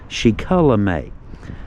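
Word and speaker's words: Shikellamy: He was born in the early 1700s, likely a son of Shikulamay. Get that right, it's pronounced Shikulamay.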